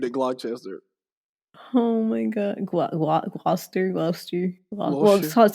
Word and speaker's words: Gloucester: Show me around Gloucester.